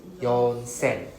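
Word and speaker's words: 四千: So 4,000 in Japanese is Yonsen.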